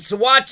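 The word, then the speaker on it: Saguache: Grande and watch County the Swatch is spelled with a G you would think it'd be a w Soul watch it looks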